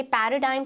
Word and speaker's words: paradigm: Moving on to the next word, again a very common yet important word, पैराडाइम। इसे पैराडाइम की तरह pronounce किया जाता है।